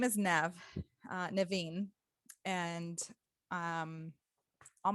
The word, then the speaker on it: Nev: just continue with you know my name is nev it's easier for people to pronounce now it's n-e-v not an av as